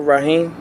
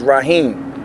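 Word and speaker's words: Raheem: My name is Rahim. I'm from Philadelphia, Pennsylvania. Okay, what spell it for us? My last name is Rahim, R-A-H-E-E-M.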